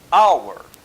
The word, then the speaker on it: hour: Por exemplo, hour. Aqui o H é mudo, mas isso também é raro de acontecer em inglês.